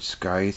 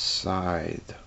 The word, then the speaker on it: scythe: there guys anyway yeah I pronounced that word Sky's for years until my sister finally told me its side well whatever we got